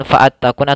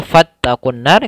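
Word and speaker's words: فاتقوا النار: seperti ini kemudian fattaqunar alifnya di tengah-tengah tidak dibaca langsung kea bukan faattaqun atau fauttaquunar tapi dia fattaqunnar karena di sini Hamzah wasal fattaqunar wau Alif Alif seperti ini dianggap tidak dibaca langsung kepada huruf nun kemudian di sini ada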